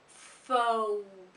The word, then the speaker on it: focus: Notice that we have a diphthong. We have two sounds, so it's focus.